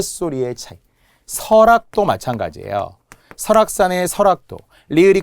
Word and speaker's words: 설악: 설악도 마찬가지예요. 설악산의 설악도. 리을이 끝 소리로 보이나요? 그러면 L로 적어야 할 것 같나요? 그렇지 않다는 거예요. 왜? 발음은 리을이 올라가 설악이 되니까요.